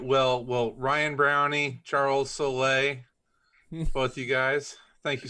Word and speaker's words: Soule: Well, Ryan Browne, Charles Soule, both you guys, thank you so much. Wow. The Silent E twins.